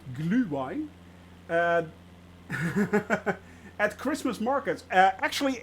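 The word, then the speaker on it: Glühwein: it off Swiss drink gluevine that's how you actually pronounce it glue wine at Christmas markets uh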